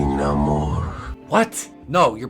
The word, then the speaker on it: Namor: That's not how I'm supposed to say it, remember? How the hell am I supposed to say it? Namor. Call me Namor. What? No, you're pronouncing it wrong. Namor's from Atlantis because now he's Aztec or Maya.